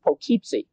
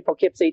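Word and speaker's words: Poughkeepsie: She looked at the sign and she said, "Dad, it's Pocypsy." I said, "Allison, I know that's how they spell it, but around here they say Pocypy." Dad, if they want to say Pocypy, they wouldn't spell it like that.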